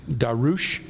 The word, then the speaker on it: Darius: Sarah has informed me that the actual pronunciation of Darius is Darush. There you go. So if we would like to do Daryush here in this class, we could do that. I might just stick with Darius.